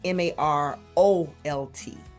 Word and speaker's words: Marolt: A lot of people pose the two, but last name is Marolt. Okay. So Marolt, and then that is Facebook, and then the Instagram.